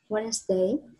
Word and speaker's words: Wednesday: Ai cũng nói Wednesday. We just say Wednesday, Wednesday. Chúng ta không phát âm từ next day, từ next to.